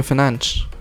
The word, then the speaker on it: Fernandes: Bruno Fernandes. Or Bruno Fernandes, as he said, you know, is the right pronunciation.